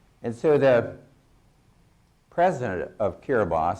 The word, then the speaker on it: Kiribati: This is a little island out in the Pacific called Kiribati. The B-A-T-A is pronounced by the islanders Ba.